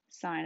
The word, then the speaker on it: sine: called sine and it's pronounced like the word sine like a stop sign and it's abbreviated as